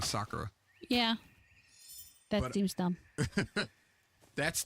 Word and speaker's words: Sakura: good opening um and they would always pronounce a girl's name is Sakura meanwhile the rest of the world is going Sakura yeah that seems dumb